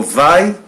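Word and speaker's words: ⲃⲁⲓ: Le mot vai, vita, alpha. Et ça, la dernière lettre, c'est iota. Vita, alpha, iota. Et ça se prononce vai.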